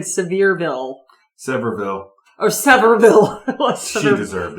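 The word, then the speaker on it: Sevierville: her town right sville severville not sville s basically just assume if you're anywhere around the South it's not B it's v v yep to the locals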